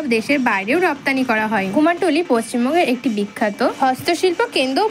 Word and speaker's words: কুমারটুলি: আমরা কথা বলবো কুমোরটুলি নিয়ে। কুমারটুলি কথ্য উচ্চারণে কুমোরটুলি কলকাতার উত্তরভাগে অবস্থিত একটি পাড়া।